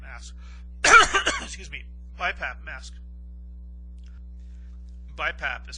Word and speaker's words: BiPAP: Some people are on the BiPAT mask, excuse me, BiPAP mask. BiPAP is spelled B I P A P.